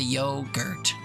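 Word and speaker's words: yoghurt: We don't pronounce the H at all. We just say yogurt.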